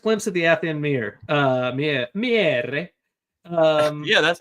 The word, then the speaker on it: Miere: Miere.